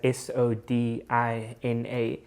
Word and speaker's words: sodina: would read it as s o d i n a so we would say sodina or something like that but they actually pronounce that o as a u so it's like sudina